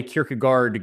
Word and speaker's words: Kierkegaard: And so uh so I am still a Kirkagard guy um because yes doing it like with the like she was like no no no stop don't ever pronounce it. So I actually promised her I would never try to pronounce Danish as Danish. I would make it anglopiled and then that way it would not be her fault.